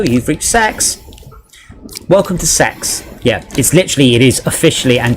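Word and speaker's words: CeX: Welcome to Sex."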